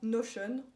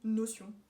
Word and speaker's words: Notion: parler c'est tout simplement notion ou notion on prononce comme on veut je pense c'est en